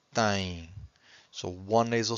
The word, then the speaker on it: têm: And every time you have a syllable that ends with a vowel M or vowel N, you have a nasal sound.